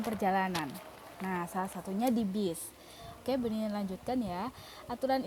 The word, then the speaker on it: bus: Nah, aturan keselamatan dalam bis. Tulisannya bus, tapi bacanya bis.